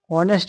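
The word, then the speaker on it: honest: ऑनेस्ट में क्या रहता है? एच साइलेंट होता है। ठीक, और जो साउंड आता है ओ से आता है।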